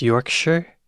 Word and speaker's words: Yorkshire: viewers it's pronounced sh not sh actually it's pronounced sh not she ple so it's Yorkshire Yorkshire Yorkshire pudding Yorkshire Terrier yeah Yorkshire Yorkshire